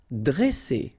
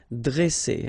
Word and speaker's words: dresser: Okay, same thing here. Vowel, vowel, double S, so you pronounce it really strong like S, okay? Dresser. And then when you get a double consonant after a, you open the sound of the so it will be like e, dre, dresser.